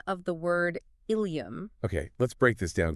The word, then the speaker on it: ileum: So ileum with an E is the gut, and ileum with an I is the hip bone. Exactly. But they are pronounced exactly the same.